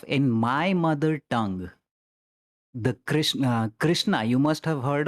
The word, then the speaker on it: Krishna: the ultimate god so in my particular language krishna is actually pronounced as cristo which is similar to christ so even the name